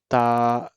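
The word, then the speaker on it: ت: That is alif, ba, ta, tha, ha, kha, as it's written here. And be, te, the, he, khe, it's the words of Urdu language. This pronunciation of Urdu language, that's wrong.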